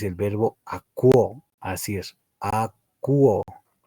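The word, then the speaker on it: ἀκούω: Lo que están viendo en mi pantalla con rojito, ese es el verbo akuo, así es, akuo. Pronúncialo recordando que la O y la U se escucha como una U.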